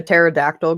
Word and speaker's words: pterodactyl: can't you hear a pterodactyl go to the bathroom why can't you hear a pterodactyl go to the bathroom because the p is silent there's a p at